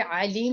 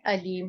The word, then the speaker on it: أليم: ये अलीम नहीं है, अलीम है। हमजा की प्रोनाउंसिएशन को करेक्ट कीजिए।